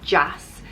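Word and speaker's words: deas: jass is jazz is irish for nice it's pronounced jazz so if you got yourself colleen just um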